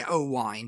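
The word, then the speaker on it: Owain: Hughes yeah yeah yeah they say ohne but it's spelled o w a i n you know so it's O Hughes you know right um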